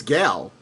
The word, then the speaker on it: Gal: It's Gal, not Gail. See, I alys say Gail. You're adding an I that doesn't exist. It's G-A-L.